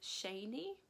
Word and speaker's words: Shani: maybe shouldn't have also you pronounce it Shanee not Shani now I may have